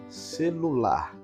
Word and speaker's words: celular: você vai notar que na palavra celular a sílaba tônica é a última uma sílaba e é